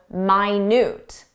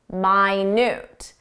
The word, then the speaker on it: minute: But there's an adjective minute, minute. Minute means very small. So notice how it describes the details, very small details.